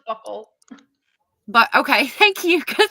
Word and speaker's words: buccal: I'm sorry, it's pronounced buckle.